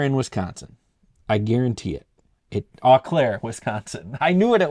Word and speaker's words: Eau Claire: Eau Claire, Wisconsin. I knew what it was. Eau Claire.